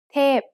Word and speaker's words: เทพ: เทพ is a falling tone.